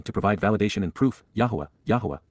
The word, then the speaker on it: Yahowah: Yahwa Yahwa, God's personal and proper name pronounced Yahwh based upon Haya to exist.